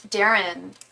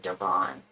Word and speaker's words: Darren: Just like the name Darren.